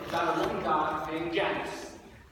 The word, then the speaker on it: Janus: a woman god named Janice the Latin version is pronounced Janis there were two young